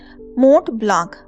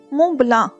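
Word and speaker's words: Mont Blanc: मोंट ब्लांक, उसने नाम पढ़कर बताया। मुंह ब्लांक, अकम में गंभीर आवाज कुछ सख्ती से तसी की गई। टी और सी साइलेंट हैं।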